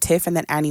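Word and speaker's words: Tiffannie: so it's like long I call it Tiff and then Annie with freckles so um T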